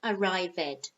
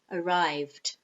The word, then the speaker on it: arrived: The same with arrive, it's two syllables, arrive, arrive. And the past simple has two syllables. It's not arrived, no, arrived.